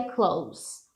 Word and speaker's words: close: A pronúncia disso aqui é close, um sonzinho de S, tá?